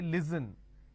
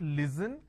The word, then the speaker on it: listen: Now the listen word pronounced as l, e, s, li. So let me add a dash after that so that it's easier for you to understand. Okay, it's pronounced as li, s, n. Listen. They replace the s with a z and they say listen. It's not listen, it's listen.